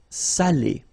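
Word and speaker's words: salé: because in that case it means salted okay Sally okay say Sayo say Delo okay and then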